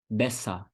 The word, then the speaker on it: besser: Uma outra palavra que termina com ER e ER no final com som de A. Besser.